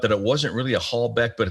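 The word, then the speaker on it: Halbach: was that tesla was using some type of hallback arrangement and that hallback is spelled h-a-l-b-a-c-h hallback uh a hallback array and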